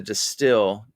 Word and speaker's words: Destihl: Now, I've always wondered this because the Destihl, Destihl, is pronounced the same as the Dutch word distill, but it's instead of where the H is, it's a J.